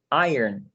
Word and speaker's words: iron: Você fala iron, não tem O nessa pronúncia.